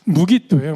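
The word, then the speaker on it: Megiddo: 땅 중에 한 곳이 무기도예요. 무기도. 음. 하르 무기도라고 불리어지죠. 혹은 텔 무기도라고도 불려집니다. 어 무기도라는이 지역은 말씀에서는 계시록에서는 잘 아시다시피 아마돈이라고 불려어요. 예. 헬라식 발음으로 아마기돈이라고 불려지고 말씀에서는 무기도라고 발음합니다. 마지막 전쟁이 있을 이곳을 주님께서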